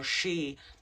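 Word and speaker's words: sidhe: near what we call shei, which is um spelled s i d h e but pronounced she, those are considered lands of sacred meaning.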